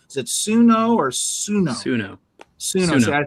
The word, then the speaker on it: Suno: there's a website called, I'm probably going to mispronounce this one. Is it Suno or Suno? Suno.